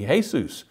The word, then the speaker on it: Jesús: To a Hispanic person, the name Jesus would be Jesus. So we know that one name can be pronounced different ways, and that's why it makes perfect sense to see Shangdi as Shaddai.